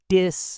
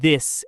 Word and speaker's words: this: So many learners say dis and dat instead of this and that.